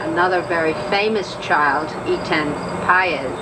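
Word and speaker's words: Patz: very famous child, Etan Paez, who is Pate, as some people pronounce it, whose parents have, as the Gosches have, spent endless hours searching for their lost son, and much pain.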